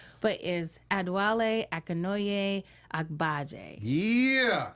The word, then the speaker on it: Adewale Akinnuoye-Agbaje: His nickname is Triple A because everyone finds it kind of difficult to pronounce, but is Adewale Akinnuoye-Agbaje.